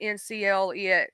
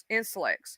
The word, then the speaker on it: NCLEX: They don't say it like if you would say NCLEX, right? They say Inselex. I think that's how you say it.